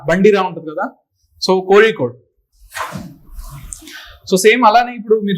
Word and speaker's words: Kozhikode: It is pronounced with Ra. Bandira untadi kada. So Kozhikode.